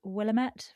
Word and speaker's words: Willamette: Rather than recreating Oregon's Willamette Valley, is that how you pronounce it?